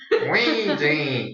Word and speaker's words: Ouija: I can't believe that's the pronunciation. When I heard it, I didn't believe it either. But hey, thanks to MatPat for. Ouija.